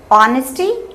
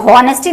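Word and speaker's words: honesty: ऑनेस्टी, इसको हॉनेस्टी नहीं पढ़ते हैं, इसमें एच साइलेंट होता है और इसीलिए हम इसको ओ से स्टार्ट करते हैं।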